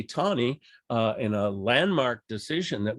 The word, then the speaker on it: Taney: Roger Taney, spelled Taney, by the way, but pronounced Taney.